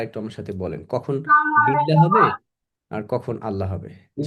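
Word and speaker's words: بالله: যেমন বিল্লাহি বিল্লাহি।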